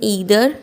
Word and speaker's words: either: ईदर, EITHER, इसे हम ईदर या फिर आइदर भी बुला सकते हैं, प्रोनाउंस कर सकते हैं।